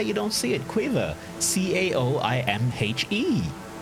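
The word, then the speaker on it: Caoimhe: i don't know how you don't see it cueva c-a-o-i-m-h-e like it makes it god so just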